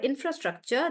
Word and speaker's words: infrastructure: for some reason guys even though it is four syllable it seems like the stress is on infra infrastructure still on infra um let's take uh